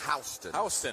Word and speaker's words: Houston: something about South Georgia I know it looks like Houston doesn't it that's Houston well thank you I